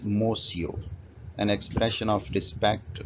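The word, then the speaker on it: monsieur: lot scolded reprimanded mosio this word would be pronounced as mosio an expression of respect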